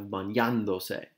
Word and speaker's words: bañándose: bañando in this case, it creates an accent mark that provides a stress on that syllable here. So you have bañándose.